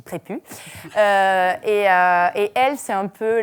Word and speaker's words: Prépuce: est un ace aspirer ça s'écrit prépuce mais ça se dit prêt pu et elle c'est un